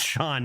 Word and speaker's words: Shan: ready we all know your name is Shan but pronounce Sean nice that's gonna be